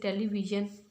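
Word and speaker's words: television: इसी तरह से ऐसे साउंड जिसमें जी का साउंड देता है एस, जैसे टेलीविज़न.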